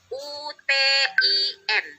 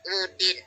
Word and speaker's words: Utin: UTIN. Dibacanya Utin, bukannya Udin.